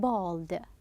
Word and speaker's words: bald: So you can get the meaning at the beginning we said bald bald notice we're saying pronouncing it as o sound however it is written as a asculus was a bald